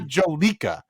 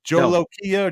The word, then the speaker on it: Jolokia: I believe I don't know how it's pronounced, but what I do know, it's not Jolika. It's not Jolika. It's Jolokia, Jolokia.